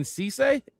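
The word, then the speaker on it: Cisse: At 52, cornerback Brandon Cece, that's how you say his name.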